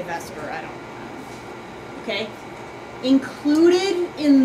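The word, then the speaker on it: VSEPR: okay it's called the Vesper model I know that's spelled like it should be vper but we say Vesper I don't okay included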